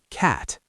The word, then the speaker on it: cat: Let me show you the word cat. Cat. Not cat or caught. It's cat with a wide open mouth.